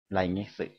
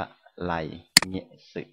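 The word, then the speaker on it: 来月: ก็ ได้ นะ ครับ ไร นะ ครับ เงะสึ ไลเงะสึ นะ ครับ ดัง นั้น ข้อ นี้ ครับ อ่าน ว่า ไร เงะสึ นะ ครับ ตัว นี้ อ่าน ว่า เงะ สึ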